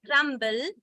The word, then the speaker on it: crumble: yeah sorry um so when you see crumbs B is silent when but when you say crumble it's not silent okay so when you have the short word then it is silent but if it is the longer word then it is not silent so these are something